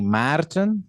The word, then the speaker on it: Maarten: So yeah, guys, this was Maarten. Is it Maarten? Maarten? Have I been calling you correctly just Maarten? Well, it's technically Maarten, Maarten.